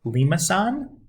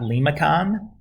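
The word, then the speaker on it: limaçon: N and that's pronounced Lee Masson not limacon as students are apt to say it's a French name I believe definitely European so the standard form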